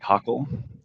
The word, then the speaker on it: Kachel: take offense um so my name is brian cockle um i know it looks like it's spelled uh chill um i've only ever